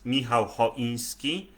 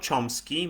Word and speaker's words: Michał Choiński: My name is Michał Choiński. It's not Chomsky.